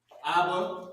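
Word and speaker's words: אבא: that is ava that's how you pronounce it abba this is what it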